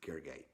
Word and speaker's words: Gergely: it again so that it's a Hungarian name so you might not be familiar with it it's Gergely it is a hanky